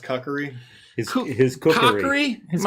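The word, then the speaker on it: kukri: and I take my cookery and I go down on this guy. I believe it's pronounced kakari. His his cookery. It's a pan. My cookori. my kakori.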